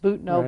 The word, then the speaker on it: Butano: It looks like Butano, but it's pronounced Butano by the locals, and it's just outside of Pescadero.